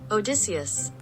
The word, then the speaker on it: Odysseus: How to pronounce Odysseus. Odysseus.